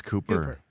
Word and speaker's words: Kuper: Kuper, if that's how you say it. Yes, it's Cooper. So, Vikings guy, I thought they'd go college ranks.